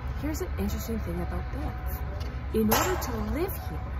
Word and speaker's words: Banff: Now, if we're going to be in Banff and visit here, I want to make sure you know how to pronounce it correctly. It is spelt B-A-N-F-F, but it is not pronounced Banffa or Banff.